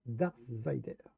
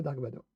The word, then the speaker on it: Dark Vador: Et on va remettre son nom à sa place, Darth Vader. Voilà, prononcé, mais c'est pas Dark Vador.